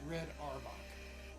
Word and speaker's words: Auerbach: Lenny Wilkens is a really good ball player, great coach, and just for the record, it's Red Auerbach.